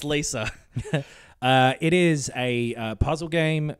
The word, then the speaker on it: Talos Principle: It's pronounced Lisa.